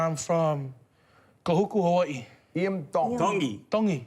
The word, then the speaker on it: Tongi: Iam Tongi. Tongi. You pronounce the T's like a D in the Tongan culture.